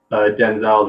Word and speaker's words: Denzel: can't help but see Denzel's eyes. Okay. To be clear, not that it matters too much, but the accent is on the first syllable. It's just Denzel.